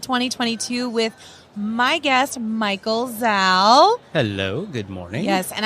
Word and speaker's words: Zalle: with my guest, Michael Zalle. Hello, good morning. Yes, and I'm gonna rhyme with your name, my new pal.